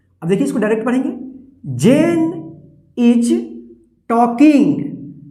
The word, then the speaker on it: Jane: तो यहां पे देखिए JANE, इसको पढ़ेंगे जेन। देखिए लास्ट में ई है और इससे पहले वोवेल ए आया तो ए का ए उच्चारण होगा, ई का उच्चारण नहीं होगा, ठीक। जेन।